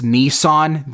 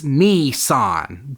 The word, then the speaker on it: Nissan: they let this guy mispronounce Nissan the entire movie it's Nissan but really who am